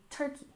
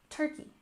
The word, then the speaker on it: turkey: we have cold turkey we stressed the first syllable in turkey turkey so cold turkey usually